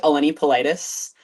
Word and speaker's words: Eleni Polites: start his sport um so my name is pronounced alen politus um I was super athletic Growing Up played